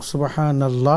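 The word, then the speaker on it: سبحان الله: আচ্ছা সেখানে আমাদের যখন শুরু সুবহানাল্লাহ যদি বলা হয় তাহলে তিনি শেষের হা এর মধ্যে তিনি জজম দিবেন এবং সুবহানাল্লাহ বলবেন নূরের উপর জবর দিয়ে নুন গিয়ে লামকে ধরবে সুবহান আল্লাহ এরকম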